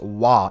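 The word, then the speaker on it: は: Ghanai w see this is this is written ha but pronounced wah if it's a particle.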